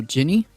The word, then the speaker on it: Ginny: you sure for Virginia the G is pronounced like J and Jenny oh Ginny oh gotcha look at